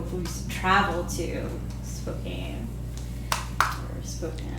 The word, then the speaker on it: Spokane: it Spokane? Yeah. But you know, the only reason people know about that city is because it rhymes with cocaine.